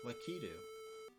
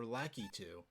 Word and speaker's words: Lakitu: Breeze Stage, Lakitu. Or Lakitu. I like either way of pronouncing him, I like a lot.